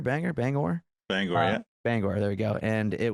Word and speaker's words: Bangor: Bangor. Bangor, yeah. Bangor.